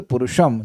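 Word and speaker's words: पुरुषम्: ये देखिए, पुरुषम और पुरुषम, अगर इसमें हलंत हट जाए तो उसमें हो जाएगा पुरुषम, और अगर हलंत लगा है तो पुरुषम। तो प्रायः हम लोग हिंदी में बोलेंगे पुरुषम, लेकिन वो हिंदी वाला प्रोनाउंसिएशन, ये मंत्र हिंदी का नहीं है, संस्कृत का है।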